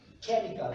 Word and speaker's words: chemical: Chemical, remember that CH, the pronunciation is chemical.